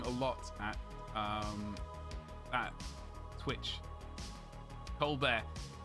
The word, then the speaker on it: Colbert: lot at that twitch colbert guys it's not french i i say his name how it's written he's not french um stephanie colbert it's